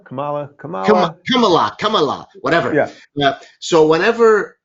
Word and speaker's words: Kamala: don't want to be i keep saying kamala but it's kamala kamala come on come so